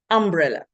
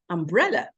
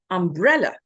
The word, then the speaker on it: umbrella: For instance, people say umbrella, but it's umbrella. So what they've done is they put the stress in the wrong place. The stress should be on the second syllable, or if you like, on the second part of the word. So it's umbrella.